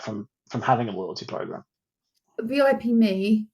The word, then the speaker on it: VIP.me: I never know if it's VIP Me or VIP.me because it's spelled VIP.me. It's VIP Me, if I remember rightly.